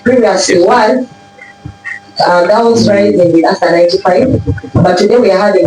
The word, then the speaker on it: Aster: Please, when you're talking to Esther, that is a very different person and she's not here. The person standing before you is Aster. I thought I would really love to correct the pronunciation of the name.